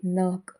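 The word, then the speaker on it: knock: ಆಗಿ ಹೆಚ್ ಸೈಲೆಂಟ್ ಆಗಿದೆ ಕೆಸೈಲೆ ಆಗಿರುವಂತ ಪದಗಳು ಕೆಎನ್ ಓಸಿ ಕೆ ನಾಕ್ ಕೆಎನ್ ಐಎಫ್ E knife K N ಓಟಿ ನಾಟ್ ನಾಕ್ ಅಂದ್ರೆ ಬಡಿ ಅಥವಾ ತಟ್ಟುವುದು ನೈಫ್ ಅಂದ್ರೆ ಚಾಕು ನಾಟ್ ಅಂದ್ರೆ ಗಂಟು ಇವಿಷ್ಟರಲ್ಲೂ ಕಾಮನ್ ಆಗಿ ಕೆ ಸೈಲೆಂಟ್ ಆಗಿದೆ ಎಲ್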